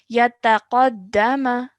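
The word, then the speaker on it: يتقدم: Remember, the letter qaf is a thick and heavy sound, so we have to really make it from the middle of our throats. Yataqaddama.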